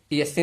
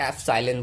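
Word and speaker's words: epsilon: ईएससी नहीं बोलो इसे एसाइलेंस मतलब एफसाइलेंस बोला जाता है।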